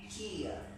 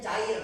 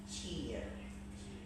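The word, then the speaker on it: chair: How to pronounce in English cheer cheer. Kalau bahasa Indonesia kita mengucapkannya cair kan itu cair kan. Tapi dalam bahasa Inggris it's cheer.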